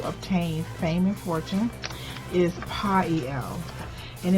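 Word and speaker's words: Poiel: I was the angel that who will help you obtain fame and fortune is Pael, and it's spelled P-O-I-E-L, and he's in the 72 Angels of Magic.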